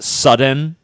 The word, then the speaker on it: Sudan: our enemy Vladimir Putin Sudan is actually pronounced sudden thank you the Ukraine